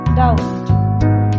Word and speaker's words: doubt: Number 8, doubt, B is the silent letter.